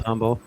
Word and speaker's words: Humble: It's Yeah, the H is silent. The H Just is silent Humble.